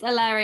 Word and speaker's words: Eleri: about it for the last hour um it's larry young harrod and carrad yeah okay brilliant um